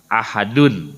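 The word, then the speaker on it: أحد: itu esa satu-satunya nah membacanya memang dipantulkan tapi tidak boleh di tasdid tidak boleh aha itu ada tasjidnya tapi harus Ahad beda ya kalau aha itu mah ada tasjidnya jadi Danya ada dua Kalau ini mah dibacanya tidak ada tasdidnya tapi mantul qolqolah kubro Ahad tidak boleh dibaca itu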